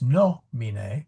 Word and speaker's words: nomine: So, for example, nomine, well, that's a short I. So we got to go one forward. So it is nomine, which means name.